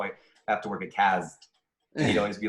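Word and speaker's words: Cazt: It was called Cazd, spelled with a Z, C-A-Z-T, and it was well said, by the way.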